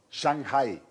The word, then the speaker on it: Shanghái: Shanghái. Ah, perdón. No, es perdón. Es la combinación de la G y la H, hombre. Ah. Hay que pronunciarlas.